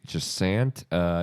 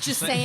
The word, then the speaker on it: Jusant: I'd say Jasant. It is cozy, but like there is What? You're the most Kansas pronunciation. Jasant. Jusant.